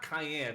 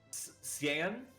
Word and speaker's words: Cyan: So, all right, it's not Cayenne because Cayenne, I think, is how the Japanese want you to pronounce it. Right, I guess that doesn't count. Cyan?